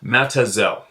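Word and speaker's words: Mazatzal: and Gila County Arizona mat szal pronounced by the locals as matazel is Aztec rooting in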